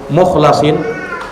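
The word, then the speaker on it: الْمُخْلَصِينَ: Ada yang membacanya innahu min ibadinal mukhlasin dengan memfathah huruf lam, mukhlasin. Dan terkadang dibaca mukhlisin dengan mengkasrah huruf lamnya. Itu juga ada bacaan qiraat yang lain.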